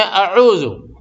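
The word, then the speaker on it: أعوذ: تو اس میں اعوذ صاف کریں گے، الف کو، حمزہ کو اور عین کو ایک دم صاف کریں گے. حمزہ کا تلفظ الگ ہے، عین کا تلفظ الگ ہے، بلکہ زمین و آسمان کا فرق ہے. تو دونوں کو ایک دم واضح کریں گے.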